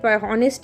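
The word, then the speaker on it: honest: হচ্ছে অতো এখানে যে এইচ যে কনসোনেন্ট কিন্তু কনসোনেন্ট এর মতো উচ্চারিত হচ্ছে না দ্যাট নট সাউন্ডেড এজ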